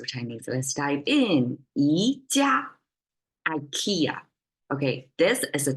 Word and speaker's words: 宜家: All right, and then phonetically, 宜家 sounds just like IKEA, right?